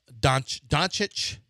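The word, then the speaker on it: Dončić: different time Larry Bird would have been Luca donic Don donic I actually is how you're supposed to pronounce it but I think if Larry Bird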